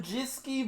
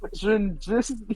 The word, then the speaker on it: Zrinjski: Zernjiski Mostar? Zrinjski. Zernjiski. Yeah, they'll be fourth. I'll let you pronounce them.